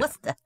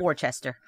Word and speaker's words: Worcester: Worcester. Not Worcester. Not Worcester.